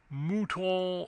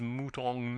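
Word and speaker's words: mouton: Muton o n added the butler gravely pronounced if you please mutang n.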